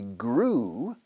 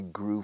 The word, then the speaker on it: grew: EW casi siempre se pronuncia como una U pura, una U.